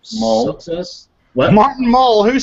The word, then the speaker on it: Mull: I don't know how to pronounce his last name. Mull.